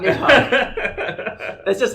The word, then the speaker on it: Nidhogg: They go, Nidhogg. That's the correct pronunciation of Nidhogg.